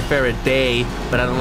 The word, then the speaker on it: Faraday: their favorite day Jesus I've been pronouncing it as Faraday I like more how it sounds as Faraday as opposed to fairy day and I even looked it up and apparently it's a British it was a British person so yeah the pronunciation should be fair a day but I don't like